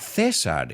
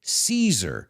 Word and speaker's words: Caesar: And we don't pronounce it Cesar. If you noticed, it's Caesar, like the salad, Caesar salad.